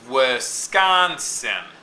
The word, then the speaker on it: Wisconsin: three- syllable word um like Wisconsin now it's Wisconsin okay unstressed stressed followed by unstressed so what I see